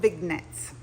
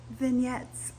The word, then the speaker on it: vignette: I used to call it big nets and my friend got on to me. So, it's vignettes.